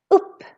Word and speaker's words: upp: Here the U is really, really short because we have two consonants, more than one coming after. Upp.